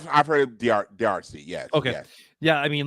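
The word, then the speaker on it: D'Arcy: you say it DRC i' I've heard Dr DRC yes okay yeah I mean like she was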